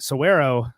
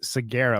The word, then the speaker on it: Saguaro: I realize I've been mispronouncing this my entire life, but Saguaro National Park outside Tucson, which is I thought it was Saguaro because the G has got one of those things.